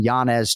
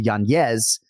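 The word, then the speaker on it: Yanez: the impetus for him changing his name to the rightful pronunciation from janz to yanes uh is his son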